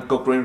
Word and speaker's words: Cochrane: Cochrane se escribe C-O-C-H-R-A-N-E.